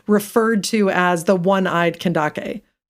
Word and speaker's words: Kandake: to as the oneeyed kandake. Kandake, which is interestingly like where we get the like modern name Candace, you know, it's that's like how it's spelled um except for with a K.